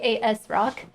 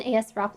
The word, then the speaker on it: ASRock: asrock motherboard um and i say as rock i know other people pronounce it differently but i don't swear and it just makes me feel like a so uncomfortable that it sounds like the a word when i say the other way so i would just